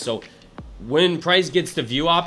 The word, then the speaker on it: VWAP: It's VWAP and it's pronounced um it's it's VWOP.